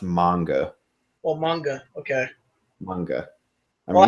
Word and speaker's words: manga: You can say manga. I don't give a shit, but it's usually, I believe, it's usually supposed to be pronounced manga.